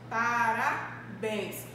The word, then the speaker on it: parabéns: Parabéns. Qual a minha sílaba tônica? É parabéns. Qual é? É justamente o bens.